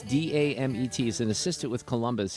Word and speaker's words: Damet: How would you pronounce this? Yoann, like yawn? Yoann Damet, or is it Dame? It's Damet.